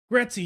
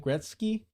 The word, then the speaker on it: Gretzky: Yeah, you know, like Gretzy used to say, I don't even know how to say his name. Wayne Gretzky. There you go.